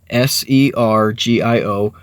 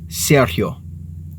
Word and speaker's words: Sergio: and of course if you write that out s e r g IO most of us pasty skinned white people would pronounce that Sergio right and one day at